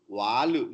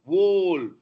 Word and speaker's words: wall: This is wall, on the wall. Walu, no, wall.